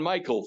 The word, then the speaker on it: Mikl: today I'm doing great Mark and that's John Michael Thor but uh that's okay it's spelled funny m i KL spelled funny I